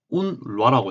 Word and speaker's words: UNRWA: 여기 운루아라고 제가 이제 발음을 할게요. 아랍어로도 알운루아라고 발음이 되어 있습니다.